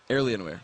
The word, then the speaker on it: Alienware: to the Finish L Alienware Alienware okay there we go pronunciation helps indeed there's an r in there randomly it was kind of weird myself rington the third